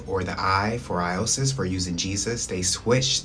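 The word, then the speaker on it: Ἰησοῦς: One thing that I would like to point out that in Greek, um, the way that you pronounce Jesus is Iosis.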